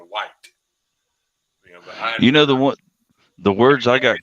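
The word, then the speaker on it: Wyatt: you're saying a name that's w-y-a-t-t why but that's just how we pronounce it here and after about a year I slowly transitioned until I started actually saying White the words I got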